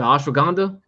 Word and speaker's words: ashwagandha: Ashwagandha.